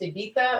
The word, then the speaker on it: Ibiza: name her ibiza but it's not ibiza it's ibiza it's pronounced ibita and i don't like